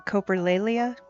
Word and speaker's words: coprolalia: You said coprolalia? Yes. I have been pronouncing it wrong this whole time.